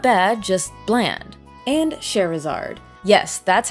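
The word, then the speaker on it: Scherazard: bad just Bland and cherizard yes that's how you say her name sounds like Charizard I know yes applaud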